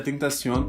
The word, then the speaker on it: XXXTentacion: Bom, como eu já disse no começo, hoje eu vou falar do XXTentacion, sim, se pronuncia Tentacion, e a origem desse nome.